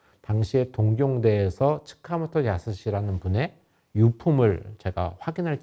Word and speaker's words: 塚本: 총번정, 일본 발음으로 츠카모토 야스시라고 하는 사람이 이름이 보이니까 저 사람이 서울역의 설계자구나 라고 이제 생각을 했습니다.